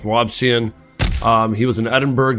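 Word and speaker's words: Robison: I want to pronounce it Robinson, but it's not. It's Robian.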